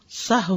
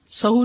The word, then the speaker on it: سہو: سہو ہوتا ہے، سہو نہیں ہوتا. سب لوگ اپنا تلفظ بھی درست کر لیں. سہو جیسے لغو، ٹھیک ہے، کرب، نفس، سہو. سجدہ سہو کے اسباب، اس کے 3 اسباب ہیں.